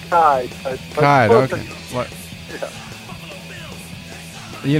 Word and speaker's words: Kcaa: We're going to our first guest, Kcaa. Did I pronounce that right? you there? Yeah, I'm here. It's actually Kai.